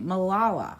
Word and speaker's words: Malala: Okay, because I wasn't even sure how to pronounce her first name. Malala. Malala.